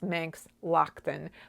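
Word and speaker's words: Manx Loaghtan: to pronounce it cuz I do know now it's Manx Lockton but I didn't know and I was like is that Laughton is that Loughton I had no idea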